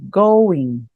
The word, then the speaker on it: going: Mesma coisa com o go, olha, going, going. A gente não pronuncia o G.